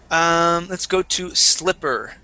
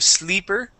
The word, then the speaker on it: slipper: Let's go to slipper. Okay, so we want a short I instead of sleeper.